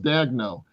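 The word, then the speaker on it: Daigneault: Dagnu. Dagno. You know, he's it's got a weird spelling, but it's it's pronounced Dagno.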